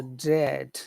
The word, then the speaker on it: dread: It's just a very simple sound, but it's very long. So it's not dre, Okay, not like great. That's a different sound. It's just eh. so dread.